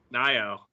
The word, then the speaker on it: Nayo: not it looks like Mayo but it's n Nao screwed it up it's all good most people do we look at things phonetically and so we look at the word